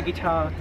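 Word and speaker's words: gitár: How do you say guitar in Hungarian?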